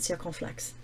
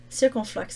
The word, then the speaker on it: circonflexe: As a 3-syllable word, this word stands out against the other 1- and 2-syllable words.